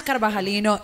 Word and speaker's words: Carvajalino: Hermanas Carvajalino, Instagram, there you can find me. Some other places, but Hermanas Carvajalino. Wait, spell it out.